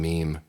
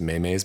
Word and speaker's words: meme: thought you were mispronouncing meme no when memes first became a thing uh Lindsay would refer to them as Mayes because she didn't know how to pronounce it and she be like